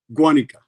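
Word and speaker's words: Guánica: Guanika Guan.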